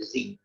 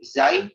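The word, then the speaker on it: زاي: Dia bisa dibaca dengan za, bisa dibaca dengan za, bisa dengan zai atau zi. Cara baca. Za, za, zai, zi. Antara huruf zai. Saya tidak ada 4. Selainnya itu rata-rata dibaca di masa ketiga cara bacanya. Lakin zai biya min ashharu wajah ziyun duna zain famdu. Tapi zai kita mengucapkan zai itu lebih masyhur.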